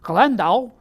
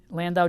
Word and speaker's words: Landau: Well, he was born in Landau, Germany, which I'm sure I'm mispronouncing. Let me try the German way. Landau, Germany.